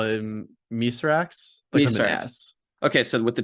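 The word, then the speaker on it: Mithrax: love ido is it wait how do you pronounce mythic's name again this is the the fallen or the elix knee call him miserax yes okay so with the title they sort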